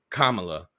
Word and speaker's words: Kamala: correctly right um and let's be clear it's Kamala we need to be able to say that